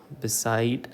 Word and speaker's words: beside: Okay, so beside has two syllables and the second syllable is stress.